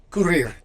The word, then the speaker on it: courir: So here, the second verb, courir, ends in an R, and here I am pronouncing the R. Why? Because this is a special case. The vowel before the R, it's an I. It's not an E, it's an I, okay? So in this case, courir. So R's are pronounced at the end in French as long as it isn't an E, okay?